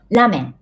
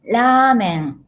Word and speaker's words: ラーメン: 私はラーメンが好きです。Many of my students said pronounce ramen, but actually ramen is long vowel.